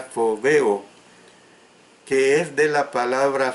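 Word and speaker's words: φοβέω: Se escribe con P inicial, con H intercalada y se pronuncia fobeo, que es de la palabra phobos, que es escrita con P inicial, H intercalada, y por eso la pronunciación es phobos.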